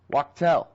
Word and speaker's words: Wachtell: break I forgot to ask you how to pronounce your last name correctly pardon me it's okay it's rocket--oh Wachtel I say it right that time okay good